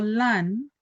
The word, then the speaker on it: lan: Solamente tenemos que hacer el hincapié en que el verbo lan, esta l, no se pronuncia de la misma manera que se pronuncia la otra L. Ya hay que hacer ese esfuerzo con la punta de la lengua, tocar los dientes delantero, ¿cierto?